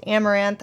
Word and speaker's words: Amouranth: guys I'm Caitlyn um stream name is pronounced amaranth I have been streaming